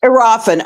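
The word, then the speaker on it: Iriafen: Um, you've got uh the rookie Sonia Citroron uh from the Mystics and you've got Kiki Arafen from Is that Am I pronouncing that right? Yes. Arafen.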